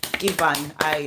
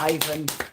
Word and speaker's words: Ivan: Ivan, I'm so used to Ivan. In the UK, it's Ivan. I'm just so used to it. That's how you pronounce it here.